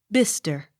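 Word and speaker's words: Bicester: s t e r bister accent on first syllable b l o u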